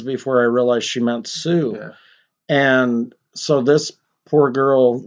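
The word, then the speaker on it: Sioux: would have said no it's not Suk it's Sue the x is silent you dumb inbred hillbilly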